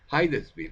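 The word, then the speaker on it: Hydesville: es el lugar hiv o heides Ville se pronuncia heides Ville con y cerca de Nueva York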